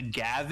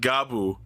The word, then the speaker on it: Gavv: a gav is but we we talked about that earlier it's it's it's spelled and pronounced differently it's supposed to be pronounced like gabo as in the word for biting but it's so funny